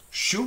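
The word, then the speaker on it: chou: U is spelled like an O-U. And you have words like vu, which is the polite you, or sometimes the plural you, vu. Shu, which is the word for cabbage, okay.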